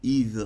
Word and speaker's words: Yves: Il viendrait du mot celte qui s'écrit en 2 lettres, I et V, Yves en prononciation, ou germanique, Iwa en 3 lettres, qui signifie If, un arbre sacré dans de nombreuses cultes anciennes, symbole d'éternité notamment.